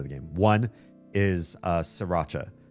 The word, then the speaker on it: Sriracha: I know some people see the R after the first S in Sriracha and they want to say Sriracha or something like that. I don't correct you. You want to pronounce that R, go ahead. It's not how the place that invented the sauce pronounces it.